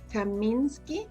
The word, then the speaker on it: Kaminsky: With me today, we have Kaminsky. Am I pronouncing your last name right?